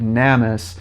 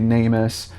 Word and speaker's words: NamUs: give a quick correction I have been incorrectly pronouncing it namis it is actually namus I know you guys been commenting on it I confirmed it with people that work there it is namus I will have that